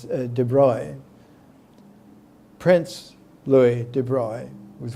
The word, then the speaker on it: de Broglie: I used to use the American pronunciation for his name, de Broglie, but it's de Broglie.